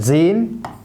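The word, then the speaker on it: sein: حرف الاس قال لك بنطقه زد او اس، يعني زين او زد. امتى؟ في اول الكلمه او في نص الكلمه.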